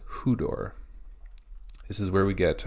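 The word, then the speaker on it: ὕδωρ: Next, we have hudor. Hudor. We have upsilon with a rough breathing and an acute accent.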